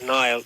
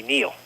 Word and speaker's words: Nile: wrong well my name even though I pronounce it as Nile the correct pronunciation would be Neil oh so he was